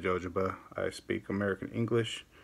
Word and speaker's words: jojoba: Yeah, I said jojoba. I speak American English. My brother's middle name is Joe. It's spelled J-O, so I figured J-O is pronounced Joe. I'm going to call it jojoba.